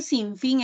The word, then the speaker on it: sinfín: Entonces yo sé que sinfín es como una aguda, balompié también es como una aguda, y decimoséptimo es como una esdrújula.